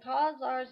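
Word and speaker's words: Khazars: a new grer encyclopedia Kars pronounced k a z a r s uh the kazars a Turkish people created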